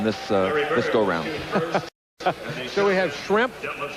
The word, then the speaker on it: Schrempf: So we have Schrempf. If you mispronounce it a little bit and call it shrimp, and Bird, we kind of a fish and fowl.